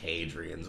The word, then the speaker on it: Hadrian: any reference to the hadrians wall the made the northern edge of the Roman Empire and uh Britannia separating it from the P then is pronounced like ha A Y Hadrian hadrien yeah it is also